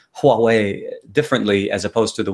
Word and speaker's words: Huawei: word Huawei is spelled Huawei differently as opposed to the way we say Huawei, because it has an H in the beginning, but we pronounce it as if it has a W.